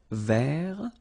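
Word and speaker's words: vert: remember rou ver so masculine form don't pronounce the final T ver feminine form ver so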